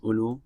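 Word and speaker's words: أولو: We have another form of ignored alif. We have, for example, ulu. This is pronounced as ulu, and the student can get used to this.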